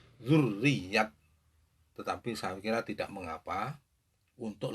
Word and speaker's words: Duriyat: adalah ucapan dan dialek masyarakat kami Duriat kalau menurut bahasa madrasah yang tentunya sebenarnya adalah dzurriyat tetapi Shakira tidak mengapa